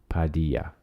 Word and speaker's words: Padilla: It's a soft D.